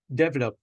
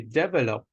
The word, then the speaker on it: develop: words that were used we don't say develop we say develop and it was used